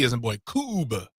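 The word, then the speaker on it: Kubb: Cube. Yep, rhymes with tube.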